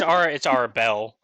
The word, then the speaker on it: Arabelle: Sorry, Arabelle. Sorry, it's Arabelle in this. I'm like, Arabella's that kid that got bit by a snake. It's Arabelle.